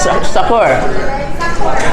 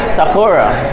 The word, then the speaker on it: Sakura: How you pronounce the place? Sakura. Sakura.